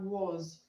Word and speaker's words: was: Question 3 we have was. Question 3 we have was. Okay, the S in was is pronounced z, z, z.